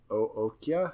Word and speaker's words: Okja: Also, he collaborated with the director of Snowpiercer on a show for Netflix called OKJA, which I think is pronounced Ookja.